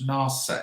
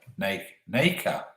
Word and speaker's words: nacre: Pronounce it like knackers. Okay. Rhymes with acre. Nacre.